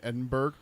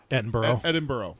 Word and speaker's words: Edinburgh: They have a statue in Edinburgh. Edinburgh. Yeah. I as soon as it was out of my mouth, I knew I had said it wrong. Thinking Pittsburgh, like Melbourne, yeah.